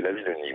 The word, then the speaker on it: Lavillenie: Oui, je crois que c'est la Villonie. Oui, c'est une histoire d'orthographe. Il y a deux L et un N, donc je crois que ça Bon. se prononce comme ça.